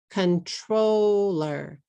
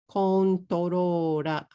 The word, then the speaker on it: controller: This is 3 syllables. This is a difficult word to say because of the R's and the L's, but if you say the R and the L strangely, but you say the word with 3 syllables, my chance to understand you is much higher than if you say controla.